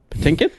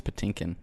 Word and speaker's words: Patinkin: Patinkin. How do you say his last name? I think it's Patinkin, right?